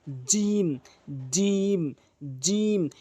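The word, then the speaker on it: جيم: বলেছি জিহ্বার মাঝখানটা উপরের তালুর সঙ্গে লাগালে এভাবে সঠিক উচ্চারণ হবে। জিম জিম জিম।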